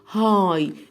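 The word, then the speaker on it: high: عاليه عالي يعني ايه هاي الدي اتش في نص الكلمه او في اخرها ما بننطقهاش ما عدا برضو شويه كلمات صغيرين جدا عالي يعني هاي فهنطق اول حرفين بس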